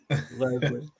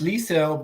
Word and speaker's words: Liesel: Leslie. She's talking about to the good old Johnsy. Yeah. I said Leslie. I don't know. I was so rude. How do you say it? Liesel? It's Liesel, but she misspelled it, so she can't be found.